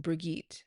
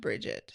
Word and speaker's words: Brigitte: meets a woman named, I want to say it's pronounced Brigitte instead of Bridget.